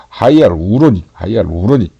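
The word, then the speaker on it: hyaluronic: 하이알 우로닉. 이렇게 발음을 해야지.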